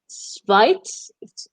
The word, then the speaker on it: Schweiz: und der Schweiz. Schweiz, Schweiz. Sin la ¿sí? T, ¿cierto? O ahí lo pronuncié bien.